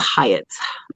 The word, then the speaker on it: Hyatt: Hyatt, here, I'm gonna put it up because I had to ask her how to say her name in my members only live the other night. It's Hyatt.